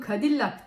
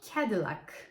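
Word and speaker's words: Cadillac: bir Amerikan araba markası Biz bunu kadillak diye okuyoruz Ama doğrusu kendi lak Bu markayı görünce aklıma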